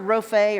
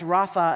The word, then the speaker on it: Rophe: This word Rophe, or sometimes pronounced Rapha, appears 60 times in the Old Testament.